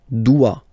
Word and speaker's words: doit: Il, elle, doit. Final T not pronounced.